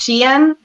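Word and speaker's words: Shein: an issue with um I called it Sheen at first but it's pronounced Shen the clothing one I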